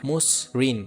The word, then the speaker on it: মসৃণ: শব্দের অ এর পরে যদি রিকার থাকে তবে সেক্ষেত্রে উচ্চারণটা ওকার হবে।